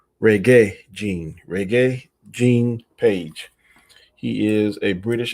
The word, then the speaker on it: Regé-Jean: It's spelled Reg-Jean Page. To me, it looks like Regé-Jean, but it's called Regé-Jean. Regé-Jean Page.